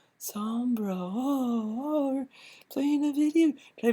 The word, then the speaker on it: Sombra: Dark Side Phil, it's pronounced Sombra, not Sombra.